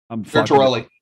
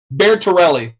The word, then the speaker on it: Bertorelli: Bertorelli. There we go. Say it again. Bertorelli.